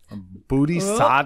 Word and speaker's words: Buti: the wall become a booty booty sad yeah I keep looking at the paper it does not you do not say it like it's spelled awesome as we're doing